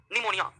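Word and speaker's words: pneumonia: गया अगला बीमारी है निमोनिया निमोनिया इसका पी जो है ना साइलेंट रहता है इसको निमोनिया ही पढ़ते हैं निमोनिया और इससे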